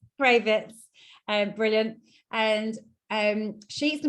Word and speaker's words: Cravets: Have I pronounced that right, Mary? It's Cravets. Cravets, brilliant.